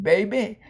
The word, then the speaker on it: baby: e for one thing it's an unaccented syab you don't say baby it's baby and so linguistically technically